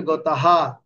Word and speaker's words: গতঃ: যেমন আমরা এখানে বলছি পরমাম গতাহা, আ আ গতাহা, বড় করে বলছি না, মানে এটা এটা পূর্ণভাবে উচ্চারণ করছে হটা।